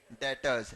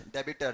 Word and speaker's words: debtors: बोलते हैं हम लोग डेटर्स डेबिटर नहीं डेटर्स बी साइलेंट होता है ठीक है और जिनको